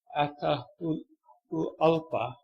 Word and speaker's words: Atahualpa: Don't ask me to pronounce this. How you say it? Atahualpa.